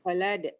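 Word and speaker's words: Khallad: 7, Imam Khalad itu bacanya. Khalad. Ya. Panjang yang la-nya kedua.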